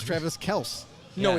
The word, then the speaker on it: Kelce: He goes, yeah, actually, my father, the real pronunciation is Travis Kels.